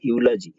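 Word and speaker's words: eulogy: इसे पढ़ते हैं यूलॉजी, यूलॉजी की हिंदी होती है प्रशंसा करना, प्रशंसा कहिए प्रशंसा, इसके पहले भी ए लगेगा क्योंकि यह आ रहा है।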